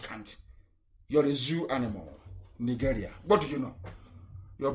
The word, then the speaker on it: Nigeria: zoo is down, unless Nigeria ceases to exist. As long as Nigeria, that's the proper pronunciation, not Nigeria is the phone, Nigeria. It sounds a bit, okay. The proper name is Nigeria.